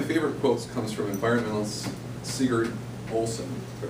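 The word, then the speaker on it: Sigurd Olson: one of my favorite quotes comes from environmentalist Seager Olsen I pronounced it right he says one must live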